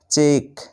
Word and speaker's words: cheque: তারপরে দেখো সবশেষ নিয়ম, রুলস নাম্বার 5, শব্দের শেষে যদি QUE থাকে তাহলে এই 3টি বর্ণ একসাথে ক এর মতো উচ্চারণ হয়। যেমন প্রথমে দেখো CHEQUE, চেক, এখানে শেষে দেখো QUE